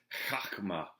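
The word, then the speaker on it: חָכְמָה: In the Hebrew, the word is chachma. Sometimes it's spelled Chokmah.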